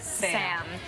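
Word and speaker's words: Sa5m: I'm very happy like Gabriella, but I'm not as introverted as Sam. And Sam spells her name in an interesting way. Yeah, how is it? S-A-5-M, the 5 is silent.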